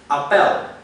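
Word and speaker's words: appèl: an in dut and it is pronounced Appel so in 19 54 the spelling was Appel and um because the the stress is on the second syllable most people would just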